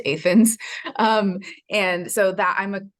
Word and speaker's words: Athens: But I grew up in Illinois, in this little town called Athens, spelled Athens, but pronounced Athens.